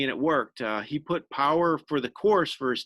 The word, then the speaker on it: Paur: team name so you sometimes people pronounce my name par so that's fine as well that's how my dad actually pronounces it but i believe the product correct pronunciation is power i know we should know we've been around for a while the powers but i go with power some people say par